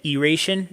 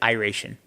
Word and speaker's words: Iration: I'm making sure I said that correctly because the band messaged me and apparently I said Eration instead of Iration.